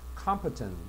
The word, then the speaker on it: competent: 보통 COM은 강세가 앞에가 있을 때 칸으로 발음을 많이 합니다. 그래서 competent 요거는 어디에 적임이다.